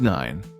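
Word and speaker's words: nine: Here's 9. Just like with 5, a silent E at the end makes the I say its name.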